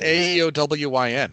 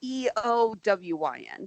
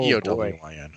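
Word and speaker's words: Éowyn: And you have doomed this child to have her name misspelled and mispronounced for the rest of her life. Yeah. I made the mistake. Just Aeowyn, right? No, Eowyn. Oh, Eowyn.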